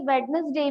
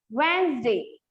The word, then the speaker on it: Wednesday: है वो साइलेंट है, वैसे ही वेडनेसडे में डी जो है वो साइलेंट है, इसीलिए हम लोग उसको वेडनेसडे ना कह के क्या बोलेंगे, वेंसडे, ठीक है। हाँ वेंसडे में जी तो डब्ल्यू तो साइलेंट नहीं है, बाकी जी तो जी साइलेंट है, तो हम उसे वेडनेसडे नहीं पढ़ेंगे, हम उसको वेंसडे पढ़ेंगे।